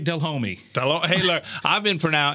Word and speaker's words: Delhomme: get embarrassed by it I'm just proud of the way you said my last name I mean you said Jake dell homie I've been for now